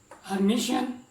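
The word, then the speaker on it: Hermitian: अब कई इसकी जो प्रोनाउंसिएशन है आपको इस तरह भी नज़र आएगी, यानी कि हर्मीटियन, इसे हर्मीटियन भी कहते हैं कुछ लोग।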